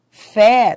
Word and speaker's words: fé: Mês tem timbre fechado, mês. Fé tem timbre aberto, mas ambas são tônicas, porque são fortes.